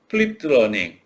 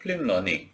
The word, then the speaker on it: 플립드 러닝: 이를테면 여러분들은 어, 아이고, 플립드 러닝, 뭐 플립 러닝이라고 얘기를 하기도 하고요. 이거 빼고 발음을 한다는 거죠. 플립 러닝 또는 거꾸로 학습 또는